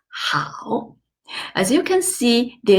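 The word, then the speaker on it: 好: the second character tau the initial is huh the final is au together is how as you can see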